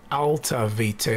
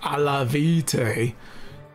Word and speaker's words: Alta Vitae: Oh my god, Alta Vitae, not Alla Vitae.